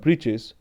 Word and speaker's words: breeches: wool shirt with old-fashioned breeches and high tall hat, much like a witch's. So the author wanted to rhyme with this witch, wanted to rhyme this word breeches with this word witches.